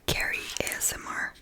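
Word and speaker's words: Ceri: Il y en a une, elle s'appelle Carry, mais ça s'écrit C E R I et elle est trop trop forte.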